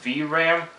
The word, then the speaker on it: VRAM: to 12 gigabytes of vram i believe that's how you pronounce it v-r-a-m it has a one